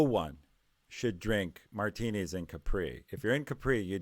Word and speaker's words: Capri: with them and yeah I said Capri it's actually Capri but I was sticking with the pronunciation given I think of it as Capri anyway we wanted clear about